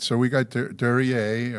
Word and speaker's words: Duryea: All right, so we got Duryea, or is that the correct pronunciation? Yeah, that's right. It's a French word.